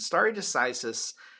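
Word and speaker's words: stare decisis: there's this concept that's used in jurisprudence called starry decisis and starry decisis it's looks like it's spelled stare s-t-a-r-e but it's pronounced star a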